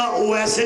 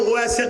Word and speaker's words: اویس: پھر کہہ رہا ہوں اویس قرنی، یہ تلفظ اویس ہے، اویس نہیں، لیکن یہ غلط علام ہے، ہمارے ہاں اویس ہی بولا جاتا ہے۔ اویس قرنی نے پتھر